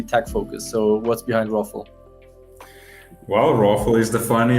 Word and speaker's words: ROFL: you know if you if you say it like rafle um you can also